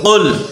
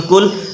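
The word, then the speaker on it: قُلْ: আর যদি এখানে কাফ দিয়ে বল কাফে লামজম কুল তাহলে হবে তুমি খাও কেমন তাহলে অর্থ পরিবর্তন হয়ে যাবে হরফের পার্থক্য উচ্চারণের পার্থক্য অর্থ পার্থক্য কেমন তাহলে কুল বলতে হবে কুলহু আল্লাহু কুলহু আল্লাহু হামজা জবর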